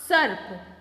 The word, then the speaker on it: सर्प: ये प से पहले बोला जाएगा, स के बाद में बोला जाएगा और प के पहले बोला जाएगा।